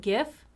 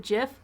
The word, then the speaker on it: GIF: want to pronounce it gif that's fine if there are people that want to pronounce it jif that's also fine because at the end of